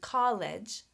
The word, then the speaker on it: college: And one more thing I want to mention, college. College has 3 vowel letters, but only 2 syllables. College. College. When a word ends in an E, that E is not pronounced.